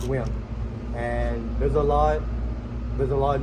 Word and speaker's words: Nguyen: Her last name is Nugent. Well, for American they pronounce it Nugent, but in Vietnamese it's pronounced Nguyen.